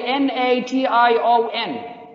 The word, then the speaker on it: nation: spelling we write it t i o it has the same sound it has the same sound but doesn't have the same spelling of the sound hope that clear